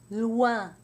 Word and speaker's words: loin: OI is almost always pronounced wa in French, except when it's followed by an N, in which case it's pronounced loin. Let's do some words. Moi. Toi, soi, voix, joie, and with an N, moins, foin, loin.